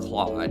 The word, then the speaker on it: Claude: Claude is the pronunciation.